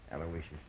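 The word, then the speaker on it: Aloysius: Yeah, you spell that uh middle name right. It's a L O Y S I U S. Alawishas.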